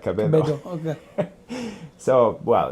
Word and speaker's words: Cabedo: and KB2 in Spanish, Oh, okay. it's pronounced like Cabedo.